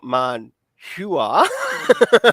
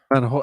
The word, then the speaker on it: manhua: That U is silent, but it still carries it somewhat through.